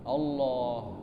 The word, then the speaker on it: Allah: lafaz Allah Hai kamu mengucapkannya dalam berzikir itu harus lengkap jangan dimakan hurufnya ndak boleh Hai sangking khusyuknya dan banyaknya dzikirnya lama-lama hurufnya dimakan awalnya Benar Allah Allah Allah Allah Allah Allah makin kencang diucapkan naudzubillah eh itu tidak benar lagi itu naik gunung itu capek kalau begitu dzikirnya artinya tidak boleh dibuang 1 huruf e tak berdosa terakhir